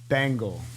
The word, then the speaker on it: Bengele: the man the GM how do you say your last name by the way bangle bangle wow Cincinnati Bengals unfortunately yes I'll take